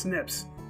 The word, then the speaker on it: SNP: nucleotide regions are called snps or pronounced snips it's short for single nucleotide polymorphisms the cases vary from